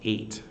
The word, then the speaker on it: eight: that we have gh in there and it's pronounced 8 it's pronounced the same way as the word